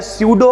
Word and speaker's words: pseudo: बात करने वाले हैं सुडो ऑर्डर रिएक्शन के बड़े में सर जी सुडो ऑर्डर ये कैसा नाम है तो मेरे भाई यहां जो लिखा हुआ है इसमें पीस साइलेंट रहेगा इसे हम लोग पढ़ेंगे